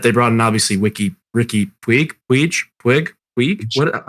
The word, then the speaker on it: Puig: And then before that, they brought in obviously Ricky Puig.